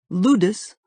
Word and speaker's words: ludus: irrational possessive dependent love ludus rhymes with Brutus derives from the Latin